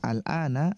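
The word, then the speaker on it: الآن: Huwal ana, al-an dibacanya fathah. Al-ana artinya sekarang.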